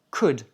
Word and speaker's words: could: 4è point, quand tu as besoin de demander quelque chose et de rester poli, utilise could. Alors, could s'écrit c O l d, mais on ne prononce pas le L.